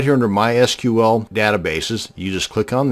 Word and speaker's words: MySQL: And yes, it's pronounced MySQL, not MySQL. So the next time you're at a dinner party discussing databases, and frankly, why would you be at a dinner party discussing databases? But that's a different story altogether. Now you won't sound so much like a dork. It is pronounced MySQL.